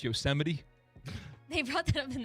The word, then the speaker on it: Yosemite: You guys know it's pronounced Yosemite?